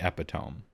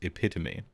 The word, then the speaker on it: epitome: a talker and so you read the word and phonetically it's clearly epitome like there's no way it would be anything else and yeah because English it's epitome ah okay because we stole the word from another language and when we do